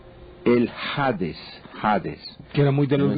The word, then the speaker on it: Hades: La pregunta, la pronunciación correcta es Hades. Hades, sí, bueno, sí, perfecto. joven. Le voy a decir por qué. Porque en griego las vocales llevan dos comitas que quieren decir espíritus.